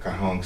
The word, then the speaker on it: Caihong: It's like it pronounces the spell is CAIHONG Kahong City.